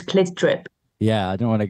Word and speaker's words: CLT DRP: Let's talk about the tour, because I was going to talk about, how do I pronounce the band name? It's Clit Drip.